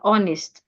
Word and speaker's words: honest: in thought right way sometimes when we have letter H at the beginning of a word the H is silent as an honest hour letter H can also